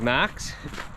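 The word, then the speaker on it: Maks: His name is Max, and it's spelled M-A-K-S.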